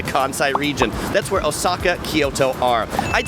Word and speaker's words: Kyoto: of like two syllables same with Kyo two syllables and O Saka has a very long o so if you want to pronounce it the Japanese way it's Toyo Kyoto and Osaka but my